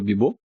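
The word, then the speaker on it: Bebop: Ударение в названии ковбой бибоп падает на второй слог.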